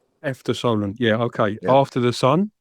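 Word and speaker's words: Efter solen: Is that how you pronounce it? Yeah. Eter Solen. After Solen.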